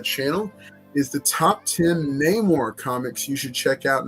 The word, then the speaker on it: Namor: is the top 10 Namor Comics you should check out now maybe it's no more if you're going based off of the pronunciation in the film uh suffices to say